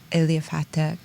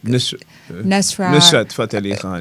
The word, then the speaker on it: Nusrat Fateh Ali Khan: And I always mispronounce his name, Eliafata. Nusrat Fateh Ali Khan, Nusrat Fateh Ali Khan.